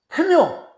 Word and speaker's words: 大廟: 그런데 태묘 이걸 대로 썼는데 읽기는 태묘라고 읽어야 됩니다.